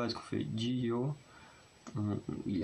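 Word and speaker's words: Jihyo: Non, Jio ça peut porter à la confiance, parce que pareil, il y a un Y après le H, sauf qu'on le prononce quasiment pas, parce qu'on fait Jio, il est à peine prononcé, Osana.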